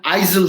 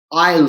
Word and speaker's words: aisle: isil seed it is aisle seed look at the rule as to why s is silent in a i s l e why is s silent